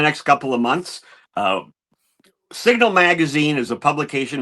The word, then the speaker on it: SGNL: It's pronounced Signal.